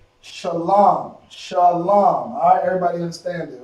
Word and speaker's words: shalom: The La and the Ma become one word. One pronunciation, I should say. Alright? Lam. Okay? Shah, Lam. La and the Ma connected is Lam. Shalom.